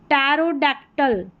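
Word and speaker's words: pterodactyl: यहां पर भी पी साइलेंट है और यहां पर देखें टैरोडक्टल टैरोडक्टल तो यहां पर भी पी जो है वो साइलेंट है।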